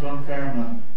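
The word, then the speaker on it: Dunfermline: local mean time D fand Scotland you better look at it you'll never get it from a pronunciation pronounced donman the king sits in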